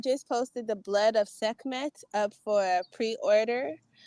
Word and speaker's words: Sekhmet: Is it Skemet? How do you say that? How's the title of your new book? I just posted the Blood of Sekhmet up for a pre-order.